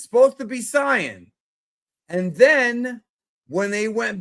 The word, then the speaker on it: Saiyan: It's Saiyan and Kaioken. AI is I, not A.